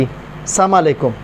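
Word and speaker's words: السلام عليكم: بھی فوکس کرنا ہے۔ اب بعض لوگ سلام تو کرتے ہیں لیکن سلام ایسے انداز میں کرتے ہیں کہ یہ دعا نہیں بلکہ بد دعا بن جاتی۔ السلام علیکم، سام کا معنی ہوتا ہے ہلاکت، تم پر ہلاکت پڑے، تو اس کے درست تلفظ آپ سیکھیں۔ یا آپ سلام کسی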